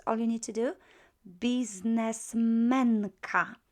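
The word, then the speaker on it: biznesmenka: Businessmenka, just the accent would shift because we tend to accent, not all words, but almost all words are accented on the next to the last syllable.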